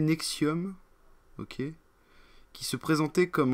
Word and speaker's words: NXIVM: L'actrice sera impliquée dans l'organisation NXIVM, a prononcé Nexium, ok, qui se présentait